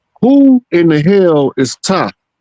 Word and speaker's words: Ptah: Now, who in the hell is Ptah? The P is silent, by the way. Say it again. I said, who in the hell is Ptah?